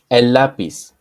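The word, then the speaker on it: lápiz: C and at s lapis Los lapises Los lapises remember that the letter z and the C as well are pronounced like an s so it's the same sound elapis Los lapises that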